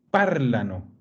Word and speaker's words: parlano: L'accento, occhio, in italiano va nella radice. Non va mai nella terminazione. Allora, quando le parole sono corte, come questa, io so quale va. Non ho più opzioni. Io so che nella A e nella O non va l'accento. Allora so che l'accento va nella A della radice. Parlano.